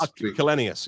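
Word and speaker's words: Källenius: Yeah, so I spoke to Ola, I can't pronounce his last name, the chairman of Daimler recently about this. Kalenius, yeah.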